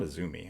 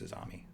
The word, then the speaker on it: Azami: It's not Azumi. I'm pretty sure it's Azami. It's Azam from what I can tell. Yeah, but it's pronounced different.